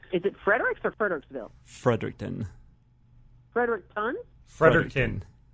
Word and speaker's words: Fredericton: I blew it is it Frederick surfer Tocqueville fredericton Frederick pun Frederick in spell that Frederick and in ton o fredericton Frederick